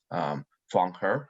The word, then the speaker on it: Fong Her: For those who little uncertain how to pronounce my name, is like Fong Her is my full name, and I represent East Side St.